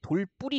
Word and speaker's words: 돌부리: 돌과 부리가 결합한 말이에요 그래서 우리 흔히 돌 뿌리라고 발음하지만이 단어는요 돌의 뾰족한 부분을 얘기하는